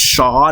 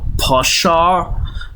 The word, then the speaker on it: pshaw: it's pronounced shah, not pshaw. Um it is actually I mean, it's an interjection. I feel like it should be pshaw, but uh looked it up, it's supposed to be pronounced just shah, apparently.